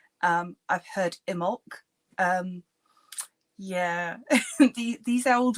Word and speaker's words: Imbolc: there for too long so um how to pronounce imul um I say imul some people say imbolg um I've heard imul um yeah the these old words um open